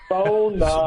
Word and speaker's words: sauna: We Yeah, we're doing we're taking sauna about three or four times a week, and it's it's the best thing for these aching joints. So, okay. I know you're not finished. It's pronounced son. Sona.